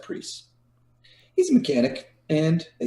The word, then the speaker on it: Priest: Priest, spelt like price, but, pronounced Priest.